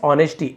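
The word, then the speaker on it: honesty: अर्जुन जाना जाता था तो डब्ल्यू साइलेंट है फॉर यानी के लिए हिज ऑनेस्टी। एस साइलेंट है ऑनेस्टी।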